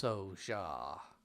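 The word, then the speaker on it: Pso'Xja: I think it's pronounced Soja. I think the P is silent.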